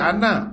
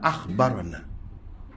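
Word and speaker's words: أخبرنا: Bukan Anna, akhbarana. Kalau lagu ni kena baca akhbarana.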